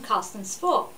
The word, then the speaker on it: Carsten Spohr: What I loved about your coverage of this was your persistence in getting answers from Carsten Spohr. That's how you pronounce it.